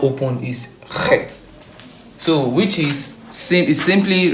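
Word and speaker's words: ח: So the next one is what we call Het. Call it Het. Het. Het. Het. So when you pronounce this, you pronounce it using your throat.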